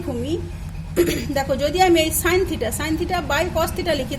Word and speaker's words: sin: তো সি কোণটাকে theta ধরলে সি কোণের সাপেক্ষে প্রথম অনুপাতটা লিখেছি, দেখো এটা উচ্চারণ করবে সাইন থিটা। লেখা আছে দেখো SIN থিটা, এটা উচ্চারণ হবে সাইন থিটা।